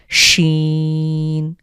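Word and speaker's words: شين: scene এবং এরপরে হলো এখানে স একটা আওয়াজ হবে অনেকটা ইংরেজির এস এইচ এস এইচ দিলে যেভাবে আমরা সর একটা উচ্চারণ হয় বা বাংলার তালব্য স ঠিক সেভাবে আমরা উচ্চারণ করব শিন শিন এখানে হলো সিন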